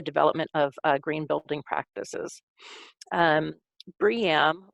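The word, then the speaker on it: BREEAM: of green building practices briam or it's costing some people pronounce it bream i have never actually heard it pronounced but um it's it's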